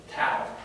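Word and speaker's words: ταῦ: word, it's like a C with a little tail on it. What's the letter? Oh, Sigmas. Sigma. sigma. Jason, what comes after sigma? Tail. Tau.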